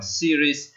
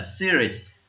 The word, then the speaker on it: series: Chúng ta phải đọc là series và cách viết của từ đấy như sau. Đó. Chúng ta phải đọc từ này là series. Các bạn nhớ nhé. Series.